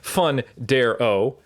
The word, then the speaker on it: Fundaro: Ben House, Dr. Gabrielle Fundaro, and you have to pronounce it like that from now on till the end of time.